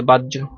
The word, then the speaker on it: বাহ্য: যৌকার্য ঐতিহ্য হয়ে গেছে বাহ্য কিভাবে হবে বর্ষাতে আকার আছে বর্ষাতে কি আছে আকার আছে যেমনে আছে এমনি যেমনে আর এইটার পরিবর্তে কি লিখবা এটার পরিবর্তে বর্গের হসন্ত যৌকার্য বাজ্য বুঝতে পারছয়ার লেজ্য কিভাবে হবে